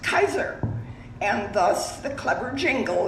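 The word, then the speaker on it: Kisor: Chrysler Ford Pontiac Buick my maiden name was k-i-s-o-r pronounced Kaiser and thus the clever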